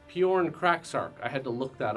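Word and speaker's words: Pyornkrachzark: It's actually pronounced Bjorn Kraksark.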